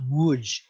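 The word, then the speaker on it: Łódź: woods which is uh spelled l-o-d-z but pronounced woods in poland is a giant textile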